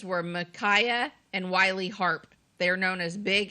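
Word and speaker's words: Harpe: was a kid okay is harp is spelled h a r p it has a silent E on the end big and little harp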